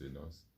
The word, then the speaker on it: Enos: Enos, ou ça se prononce Enos.